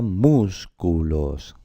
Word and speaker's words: músculos: La palabra músculos también vemos que es una palabra que también lleva su tilde porque es esdrújula, músculos, ¿vale?